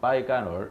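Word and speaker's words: 白干儿: 빠이지오라고 얘기하는데 이게 빼갈이라는 것도 원래 한 중국어 말이 우리나라로 넘어오면서 바뀐 거거든요. 빠이간얼 이렇게 되는 거죠.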